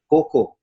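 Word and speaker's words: cacao: a project manager for kakao or in malaysia we pronounce it as coco maybe the same in indonesia coco conservation at klingkumang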